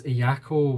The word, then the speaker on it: Ayako: finally know how to say her name it's iako w not W um from Japan and she